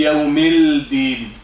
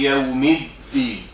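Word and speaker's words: يوم الدين: We don't say Yawmil-Din. Maliki Yawmiddin. One important thing, you noticed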